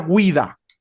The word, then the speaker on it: guida: Se pronuncia guida, guida. No es guida, es guida. La G-U-I suena como gui.